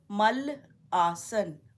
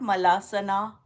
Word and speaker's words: malasan: Mal plus, when you join mal and asan, asan is the posture, you get malasan. It's not malasana. It is not malasana.